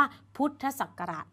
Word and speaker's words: พุทธศักราช: เรา อ่าน นะ คะ พวก อักษร ย่อ จะ ต้อง อ่าน คำ เต็ม ๆ ของ คำ นั้น ๆ เช่น อ่าน ว่า พุทธศักราช ถ้า เรา เจอ คำ นี้ เรา อ่าน เลย ว่า พุทธศักราช อ่าน คำ เต็ม ของ